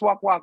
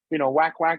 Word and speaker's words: WAKWAK: So it's pronounced WAKWAK. But honestly, again, for my non-Filipino speaking friends and family, they're WAKWAK is also correct, right? Yeah. Because it's a mythical creature. It's not real. You can pronounce it any way you want.